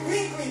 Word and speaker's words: Quin2: クイーン 2 と書いてクイーンクイーンと読みます。